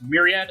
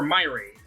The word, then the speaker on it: Myriad: Depending on how you've grown up, this can be pronounced Myriad, like me, or Myraid. I've seen it pronounced Myraid, even though I think Myraid is wrong.